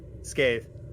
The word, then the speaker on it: Scathe: Scathe. Scathe. Okay. It was the gnome. Like a scathing retort.